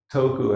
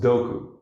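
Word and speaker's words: 徳: You put ku next to toku, and it's pronounced doku.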